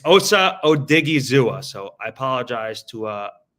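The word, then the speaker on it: Osa Odighizuwa: I just looked up the Cowboys pronunciation guide. It's Osa Odigzua.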